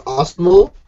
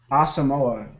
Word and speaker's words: Asamoah: Is his name Osmo? No. Huh? Did you say his name is Osmo? Asamoah.